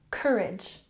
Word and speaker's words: courage: look at pronunciation here we have emphasis on the the first syllable courage courage good number 20 ask